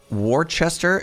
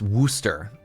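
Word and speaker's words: Worcester: Warchester is pronounced Worooster.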